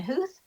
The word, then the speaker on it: Huth: Even though it sounds like a hoof, it's not pronounced with o's in there.